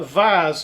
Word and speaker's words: vase: going to machine uh a small uh vase or vas whichever way you pronounce it um and we're going